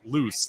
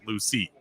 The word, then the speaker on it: Loose: Loose is pronounced loose, not Lucy.